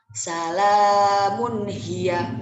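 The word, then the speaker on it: سَلَامٌ هِيَ: Contoh bacanya seperti ini. Salamun hiya. Jadi tidak ada dengung sama sekali dalam perkataannya.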